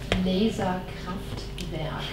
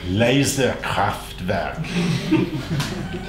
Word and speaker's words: Laserkraftwerk: Listen, Laserkraftwerk. Laserkraftwerk. I say it in Swedish, and the Americans are really impressed because they think I pronounce it in German.